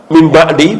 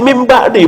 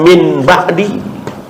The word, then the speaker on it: mim ba'di: sahabat membaca mim ba'di, pasti mim ba'di bukan min ba'di. Walaupun secara teori Rasul dan para sahabat tidak mengulang-ulang kalimat itu. Cuman kalau ada orang mengatakan jika nun mati ketemu ba, bacanya tidak min tapi mim, ya tentu Rasul dan para sahabat paham, senyum.